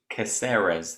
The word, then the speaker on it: Caceres: uh how would you pronounce how would you pronounce that prath you've got a better uh eloquence than i have uh alex caseras caceres there you go crew versus caceres or or